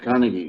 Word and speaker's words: Carnegie: And also the famous American writer, Dale, I don't know how to pronounce his family name, Carnegie or... Dale Carnegie, yeah.